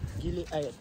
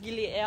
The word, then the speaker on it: Gili Air: Gili Air. I always said Gili Air, I thought it would be pronounced in English, but Air is Indonesian.